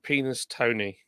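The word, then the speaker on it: Penistone: called penis town and it was spell penis Tony but everybody calls it peniston but it's spelled penis Tony there's another place called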